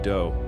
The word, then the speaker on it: Do: This guy Marshall Appawite, but his friends called him do, which rhymes with Joe.